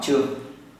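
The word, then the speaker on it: 張: Cái chữ này bạn đọc là gì? Trang. Họ Trương.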